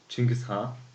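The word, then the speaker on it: Chinggis Khaan: series called Genghis Khan which in Mongolia we call them Chingiz ha I do believe that this is the right pronunciation so let's jump straight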